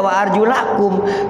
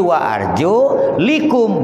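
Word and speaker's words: وَأَرْجُلِكُمْ: Macanya tidak wa arjulakum, tapi wa arjulikum, berarti kaki mengikuti kepala.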